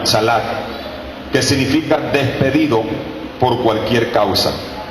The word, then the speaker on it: chalak: Viene de la palabra chalak, con C, C-H-A, termina en K. Sí, con acento en la última, chalak, que significa despedido por cualquier causa.